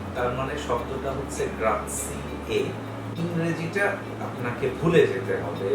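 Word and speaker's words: grazie: কিন্তু ইতালিয়ানে মনে রাখতে হবে শব্দের শেষে ই সাইলেন্ট না, তার মানে শব্দটা হচ্ছে গ্রাজিয়ে।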